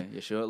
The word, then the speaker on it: Yeshua: Yeah, Yeshua. Like, I feel like people would say like, oh, but he doesn't talk about like Yeshua like in his music.